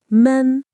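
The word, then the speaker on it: 们: You just add the suffix men, which should be pronounced in a neutral tone. It's light and short.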